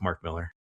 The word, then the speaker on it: Mark Millar: they say his name and yeah, it's it's Mark Millar.